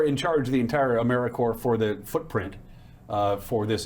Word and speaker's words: AmeriCorps: Sometimes people pronounce the P, but don't make that same mistake. AmeriCorps is alive and well, just spelled with a silent P. So think of Apple Corps, or core of the earth.